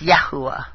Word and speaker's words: Yahweh: you pronounce Yahweh it's yahua uh most likely pronounced yah it looks like yahua it's yahua it's uh y a h u a h